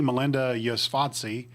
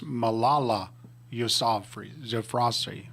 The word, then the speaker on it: Malala Yousafzai: B, Alice Munro, C, Melinda Yosvatsky, or D, Rosalind Franklin? You sure he's fifth grade questions? Yeah, Franklin. incorrect. You got a guess? C. C, with I said her name wrong. It's Malala Yousafzai.